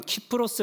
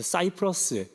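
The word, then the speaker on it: Cyprus: 섬 으로 번역된 것입니다 실제 현지에 가면 키프로스 라고 발음하지 않습니다 그러면 이제 들어볼 수 있어서 사이프러스 라고 지금은 부릅니다 여기가 으 바나바의 고향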